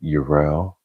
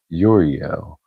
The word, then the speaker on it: Uriel: My name is mutable, so you will hear some people call me Uriel, some with 2 syllables, and most people call me Uriel with 3 syllables.